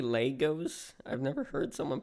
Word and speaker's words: Lego: Well, some people say Lego, some people say Legos. I've always said Legos. I think Lego is the correct term when you're talking about, like, plural, but, yeah, I don't really. Oh, because I always say Legos. Yeah. Wait. Wait, how do you say it? Lego. Lego? Lego? Yeah, Lego. I say Lego, and then if it's plural, I say Legos.